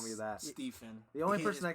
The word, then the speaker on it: Stephen: record, Steven loves it when you call him Steve Finn. I do not. Don't It you is ever pronounced call me that. Stephen.